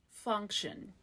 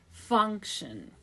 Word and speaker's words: function: A 2-syllable word with first syllable stress. Function. Cup sound f, is a stress schwa. Fung. This is actually NG sound, okay? So it's made at the back of the tongue.